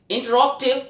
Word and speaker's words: interrogative: Dear students, इंटेरोगेटिव को actually pronounce करते हैं इंटरॉक्टिव सेंटेंसेस, यानी वो प्रश्न, वो सेंटेंसेस, वो वाक्य जो कहीं ना कहीं प्रश्न पूछने का कार्य करते हैं।